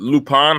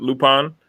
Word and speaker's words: Lupin: It was it Lupin? How do you pronounce it? Lupin? It's Lupin in English, and it's Arsène Lupin in French.